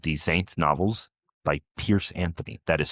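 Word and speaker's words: Piers Anthony: It is called The Saints Novels by Pierce Anthony. That is spelled X A N T H.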